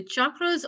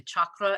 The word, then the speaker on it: chakra: The chakras also, and the reason why I'd say it that way is because people in other parts of the world say chakra and Yeah, Americans say chakra.